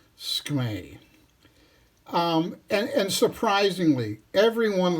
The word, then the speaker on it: SKMEI: Some people say SKMEI, but I don't see a vowel between the S and the K, so I'm not going to make that a syllable. I'm just going to say SKMEI.